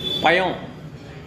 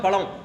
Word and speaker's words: பழம்: இடங்கள் பாத்தீங்கன்னா அழா வராது சென்னை போனா எல்லாம் யாதான் பயம் பழம் இல்ல பயம் இந்தட வேற சில ஏரியாக்கு எல்லாம் போனோம்னா பழம் பழம் பழம் அவ்ளதான் பழம் வராது அப்ப அந்த மாதிரி அந்த